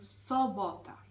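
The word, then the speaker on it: sobota: літера цього слова - це літера О а не у як в українській мові з цим дуже часто виникають проблеми тому собота хотіла додати що поляки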